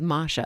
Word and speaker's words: Mascia: I think I said Masha. The better pronunciation is Masha.